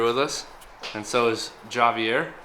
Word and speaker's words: Javier: us and so is Javier that's how you pronounce it in Mexican how do I spell